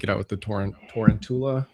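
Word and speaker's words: Tarountula: out with the torrent torrentula. How do you say that? Is that how you say that properly? Uh I think it's tanchula right cuz he's round sense toula.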